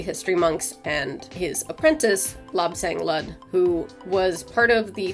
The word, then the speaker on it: Lu-Tze: I tried to look it up and there wasn't really consensus, but I kind of tried to find some videos where people actually said his name so that I could get a sort of accepted, this is how you say it kind of pronunciation. So I'm like, okay, somebody else said it, Lu-Tze. That seems to be the consensus.